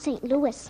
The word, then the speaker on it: St. Louis: Why, she's the strongest horse in St. Louis. Excuse me, Mr. Costello, but it's pronounced St. Louis.